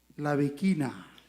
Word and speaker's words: La Bikina: La Bikina.